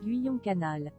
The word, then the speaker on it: Guyon: How to pronounce canal? Guyon canal.